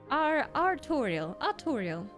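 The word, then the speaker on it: Artoirel: I say his name like Tutorial, but Artorial. Kind of like Arthur, like a fancy version of Arthur.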